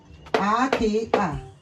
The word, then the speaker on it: aka: For instance, a a k a aka hand e e e w e ewe that's gone i i c i isi that's head.